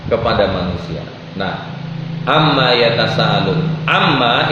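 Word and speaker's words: عمّ: Amma itu dari kata an, yang kedua ma. Nah, untuk bacanya cepat, orang-orang Arab dahulu membacanya amma.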